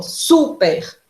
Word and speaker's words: super: Super, ó, super. Qual é a sílaba tônica?